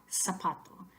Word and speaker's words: zapato: pane so siento soba zapato remember that the letter Z is never the sound Z in Spanish so pot door then